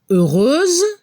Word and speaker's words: heureuse: Ejemplos, heureux, heureuse. Al femenino se escucha como una Z al final.